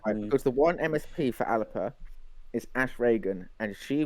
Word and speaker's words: Alba: They were relying on the support of the one Alba MSP, who is it's pronounced Alpa. Oh, isn't that Salman's party? It is Salmon's party. Alpa.